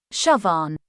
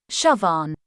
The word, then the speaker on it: Siobhan: words in english how do you go about pronouncing this one shove on once again shove on let's repeat shove on pretty straight forward once you know what